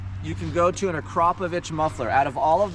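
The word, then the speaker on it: Akrapovič: So, going to an Acropovich. That's how you say it. Acropovich muffler does help that out.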